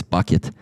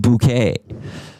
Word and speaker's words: Bucket: Yeah, somebody's already It's It's bucket. Uh, hi synth. Bucket. It's spelled like bucket. B U C K E T. So, everyone would call her B Mrs. Bucket. And she'd be like, "It's Mrs. Bouquet."